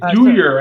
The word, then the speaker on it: Dyhr: Is it Dyhr? D-H? It's Dyhr, actually. Dyhr, D-Y-H-R.